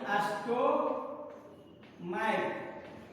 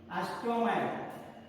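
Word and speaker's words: stomach: अंत में CH रहे और उसका उच्चारण क के रूप में हो, यानी स्टोमैक, इसको क्या पढ़ते हैं हम? स्टोमैक।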